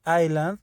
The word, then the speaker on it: island: instant industria inside highland la palabra island es muy curiosa porque a pesar de que tiene una s esta s not no debe de sonar es más común que